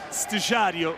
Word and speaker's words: Estagiário: the Brazilian presidents, Estagiário, is that how you pronounce it? I don't know what that means, but... yeah, that's Estagiário.